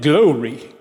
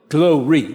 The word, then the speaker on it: glory: He pronounced it glory, glory. He divided the syllables after O, glory, not glory.